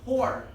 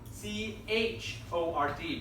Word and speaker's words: chord: diameter, is called a chord. Make sense? C-H-O-R-D, but you do not pronounce it chord, you pronounce it chord.